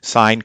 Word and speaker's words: sine: sine and coasts and they're pronounced sign and Kosovo's to sin and cost which might be their phonetic pronunciation but we in trigonometry call them sign and Coast okay so